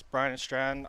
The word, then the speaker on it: Bryan and Stratton: Yes, Bryan and Stratton.